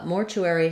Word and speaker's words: mortuary: English so first off Mortuary has two different pronunciations in American English and both of them are stressed on the first syllable more so you'll see